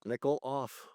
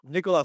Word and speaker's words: Nickoloff: We have got, oh my God, how do you pronounce his last name? Nickoloff? You got it. Nickel off. Nickoloff.